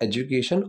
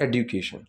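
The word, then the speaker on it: education: एडुकेशन की जब हम इस तरीके से प्रोनाउंस करेंगे उसको, सो एडुकेशन, तो ड जो की जगह ड बोल दिया जाएगा, लेकिन वो इतनी सॉफ्टली बोला जाएगा ना, जैसे एजुकेशन और एडुकेशन, तो वो बहुत ही स्लाइटली चेंज होगा।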